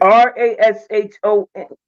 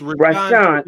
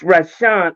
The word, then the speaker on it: Rashawn: Yeah, how do you spell that? Because I was looking for it, but I couldn't find it. Rashon. It's Rashawn. R-A-S. It's Rashawn.